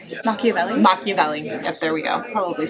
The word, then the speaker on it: Machiavelli: Machiavelli.